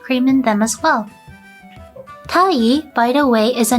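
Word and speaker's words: 鯛: Tai, by the way, is a name of a fish, sea bream. This is a lucky fish since the name rhymes with the term medetai, which is a term that means happy or celebratory.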